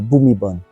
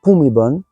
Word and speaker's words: Bhumibol: Et c'est là que ça se complique, parce qu'on va romaniser Prapum avec PH et Bhumibol avec la graphie BH. Et si vous écoutez bien les Thaïs, ils disent bien Bhumibol et pas Bhumibol.